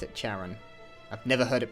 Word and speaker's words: Charon: password to the door is Caron I voice pronounced that word Charon what's Karen Hayes's idea Clara Hayes Anders Rebecca